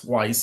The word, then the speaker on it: Weiss: The first pitching acquisition this week was Ryan Weiss, not Weiss, because it rhymes with rice, who was very successful the last 2 years in the KBO.